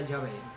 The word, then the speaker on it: Yahvé: Entonces el nombre del Señor viene a pronunciarse Yahvé, y como la pronunciación hebrea no pronuncia la H, entonces se pronuncia Yahvé.